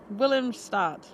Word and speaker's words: Willemstad: Willemstad.